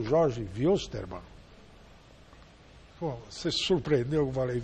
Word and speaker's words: Wilstermann: não tá entregando e Poxa contra o Jorge wilsterman você surpreendeu que eu falei wilsterman é por wilsterman é porque el mão não